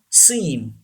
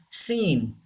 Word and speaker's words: scene: Scene. Very common word. Scene. C is silent.